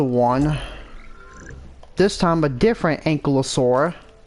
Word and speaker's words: Ankylosaurus: This time, a different Ankylosaurus. When I was a kid, I pronounced them as Ankyulosaurus.